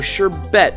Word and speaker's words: sherbet: look this up wow so sherbet is actually how it's pronounced America you've gotten it wrong all this time anyway shb land is